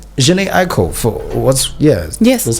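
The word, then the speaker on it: Jhené Aiko: and it sounds nice I mean it's like Jhene Aiko so what's yes yes that's how you say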